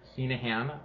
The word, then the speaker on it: Heneghan: my name is senahan um the g is silent um it is uh Gaelic uh Irish um uh we descend